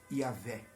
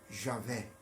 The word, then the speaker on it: Yahweh: O Y e o A tem som de Ia.